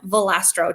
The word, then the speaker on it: Volastro: be on during this time so welcome kristin valastro did i say your last name correctly we did everybody usually butchered it but you're good that's okay because